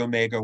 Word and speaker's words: Omega: Bell launched together the Omega workshops. Now, the British call it Omega, but I'm going to go with the American pronunciation Omega, if you'll forgive me, because I don't want to sound strange.